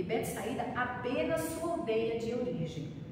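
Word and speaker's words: Betsaida: ele era natural de Bet saída é bet saída né que pronuncia na época uma aldeia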